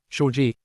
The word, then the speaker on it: Shaji: TL note, Shaji is pronounced as Shi and means snake princess.